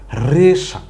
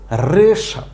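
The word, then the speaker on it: হ্রেষা: একটা শব্দ হয়ে গেছে রেশা হ র ফল এ কার রে মূর্ধন্য আকার সা হইলো রেশা এই রেশা হইলো ঘোড়ার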